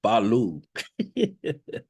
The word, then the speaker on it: Balu: Sound like he said Balu, which phonetically is Bahlu.